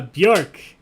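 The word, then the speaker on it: Björk: all right everybody's in rhymes with dork uh bjork is the correct answer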